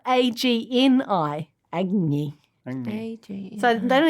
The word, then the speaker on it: Agni: Not only that, but Agni is spelled A-G-N-I.